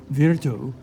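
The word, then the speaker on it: virtù: for power or Force virtue sounds like the word Virtue and Machiavelli plays on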